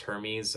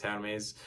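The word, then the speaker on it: Hermès: I mean, one of the first tracks off of Hitler Wears Hermes 8 was, which I know it's not pronounced Hermes, I just pronounce it that way, it's Hermes.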